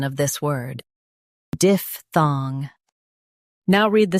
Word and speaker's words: diphthong: diph thong diphthong Stress diph and keep thong clear.